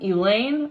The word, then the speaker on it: Elaine: Even in the lunchroom, Elaine rhymes with pain.